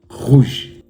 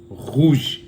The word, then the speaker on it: rouge: Rouge. Rouge. You can see the French R, how am I pronouncing it, within the throat.